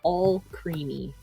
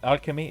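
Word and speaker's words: Alcremie: You need to pronounce the name all creamy. It's not like alchemy. It's all creamy.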